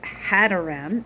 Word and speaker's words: Hadoram: In Hebrew, it's Hadoram, Hada, like Hador, Hadoram. Hadoram, which is just a variant of how it is spelled here.